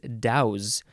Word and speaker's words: douce: This one looks like it's pronounced douse, though. Douse, because it is a verb.